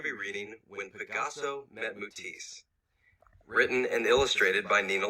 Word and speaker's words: Matisse: buy his creations okay so i've been pronouncing this as mutisi it's matisse i just realized um